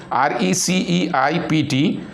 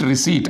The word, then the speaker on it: receipt: we should pronounce it receipt r e c e i p and t so here one word what is the one word the pronunciation is receipt receipt receipt p is silent letter here so but uh we